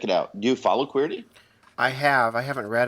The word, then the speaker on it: Queerty: a little while but it's qu it's queer it's spelled qu e e RT Y and of course it's a take on the keyboard the QWERTY keyboard not everybody knows that